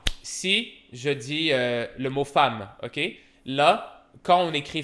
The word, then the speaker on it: femme: exemple, ok, exemple, si je dis le mot femme, ok, là, quand on écrit femme, on écrit F-E-M-M-E, et là, quelqu'un pourrait lire ça, penser on dit femme.